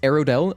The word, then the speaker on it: Aerodel: Your name is pronounced Aerodel. Okay, I can say that.